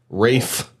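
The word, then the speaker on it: Ralph: pronounce it? Ray Fiennes, yeah. It's Ray Fiennes. Rafe.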